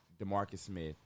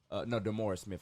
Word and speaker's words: DeMaurice: Okay, so John Gruden, he said he was pissed off at the NFLPA dude, DeMarcus Smith, and he called him, DeMaurice Smith, I'm sorry, I pronounced his name wrong.